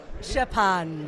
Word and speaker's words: Szczepan: We can't pronounce this. Yeah, you can't, I can, I don't know. Go on then. Szczepan. Yeah, Szczepan.